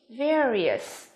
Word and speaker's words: various: Từ này phát âm là various, đúng không? Air. Từ thứ hai cũng vậy, đó chính là từ C của chúng ta phát âm là prepare, đúng không?